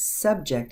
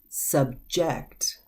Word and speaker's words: subject: look at the verb the verb is pronounced a little bit differently because that one was subject and this one is subject subject and this one